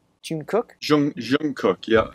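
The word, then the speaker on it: Jungkook: want G to say his name right it's Jun cook Jun Jun cook yeah it's Jun cook any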